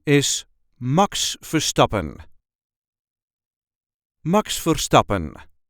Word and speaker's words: Max Verstappen: correct Dutch pronunciation is MOX fopen Max forsten there is a slight emphasis on the second syllable of the last name MOX fopen MOX for stop MOX for stopen if you can roll